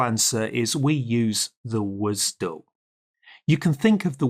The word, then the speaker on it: WSDL: But more importantly, we usually pronounce this as WSDL.